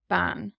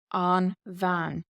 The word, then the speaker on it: bean: So for example, we have the word woman here, which is ban. Does look like bean in English, but this is the word for woman in Irish. Ban.